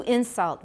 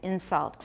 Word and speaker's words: insult: For example, to insult versus an insult, or below versus below, or market versus marquette.